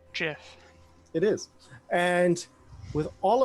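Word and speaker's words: GIF: it's pronounced Jiff.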